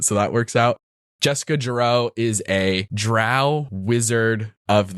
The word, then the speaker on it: Jeroux: so Jessica jro JJ the jro has like a silent X at the end cuz I'm obsessed with